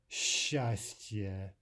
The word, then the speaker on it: счастье: S plus ch is normally pronounced like sh, as in счастье, счастье, or счастливо, Счастлива.